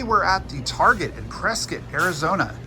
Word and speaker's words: Prescott: at the Target in prit Arizona it's spelled Prescott but it's pronounced pres kit and we're going to